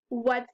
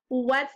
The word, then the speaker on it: what: let's look at another if you sound this out w at it's not quite what it looks like it does start with W and end with t but the sound in the middle is H this tricky word is what say it with me